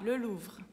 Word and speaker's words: Louvre: Na palavra Louvre, a gente tem o U, que é o som de U, e depois tem o R, só que como está no final da palavra, a gente fala mais suave, Le Louvre.